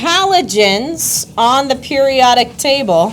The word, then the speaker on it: halogens: Uh, you actually pronounce it H hallogens, but yes. Halogens. Halogens. Halogens. Yes. Exactly like a H hallogen light bulb.